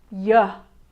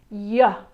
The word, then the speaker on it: yeah: Yeah yeah. So there's only a little bit of movement with your tongue when you do that "yuh" sound. Your tongue will actually go to the roof of your mouth and like I